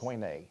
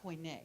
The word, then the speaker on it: koine: Koine, yes. Koine. Yes. Okay. How do you spell that?